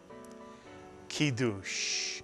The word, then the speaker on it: kiddush: Put the word together and you get the Hebrew word kiddush. Mitsuyan, kiddush. And what does the word kiddush mean?